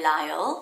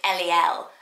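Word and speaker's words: Lael: l ellie l so i would say a lyle when i looked at this but i've looked at a lot of forums listen to pronunciations and people say this is my name and i pronounce it lel almost like um you know the letters lil i've not come across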